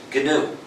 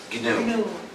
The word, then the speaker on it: GNU: Please pronounce it GNU. If you pronounce it new, you'll get people confused.